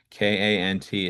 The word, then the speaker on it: Kant: K A N T is his name. It's usually pronounced Kant.